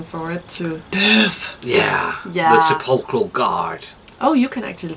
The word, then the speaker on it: Sepulchral: The Sepulchral Guard. Oh, you can actually pronounce it.